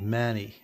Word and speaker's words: Mani: the country via a Chinese manufacturer named Manny that's spelled m-a-n-i to produce and sell the Game